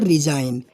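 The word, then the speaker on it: resign: तो उसका same to same आप ले लीजिए, बिल्कुल एकदम वैसा ही, जिसको हम कहते हैं रिजाइन।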